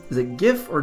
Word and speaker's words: GIF: soft G is a gif or Jif maybe that should be the one hard G or soft G I know that it's a hard G gift but ice age if